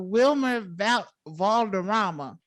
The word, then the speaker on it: Wilmer Valderrama: How do you pronounce it? Wilmer Valderrama.